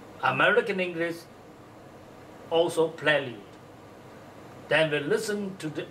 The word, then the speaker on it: prelude: It says, for British English, prelude. American English, also prelude. Then we listen to the online recording, which gives the first syllable as pre, and the second syllable as lude.